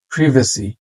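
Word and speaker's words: privacy: ইন্ডিক্ট না ইনডাইট ইনডাইট প্রিভেসি প্রিভেসি British এক্সেন্টে এটাকে বলা হয় প্রিভেসি প্রাইভেসি না কিন্তু আবার আমেরিকান এক্সেন্টে আপনি চাইলে প্রাইভেসি বলতে পারেন সেটাও আসলে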